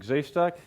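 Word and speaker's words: Grzejszczak: my name is jeff stock yes you can it's possible to pronounce it even though there are only two vowels yes so today we're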